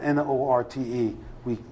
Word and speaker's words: Norte: It's spelled N-O-R-T-E. They pronounce it Norte.